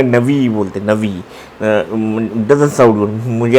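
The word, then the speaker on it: נביא: तो नबी का वो हिब्रू में नवी बोलते, नवी डजंट साउंड, मुझे अच्छा नहीं लगता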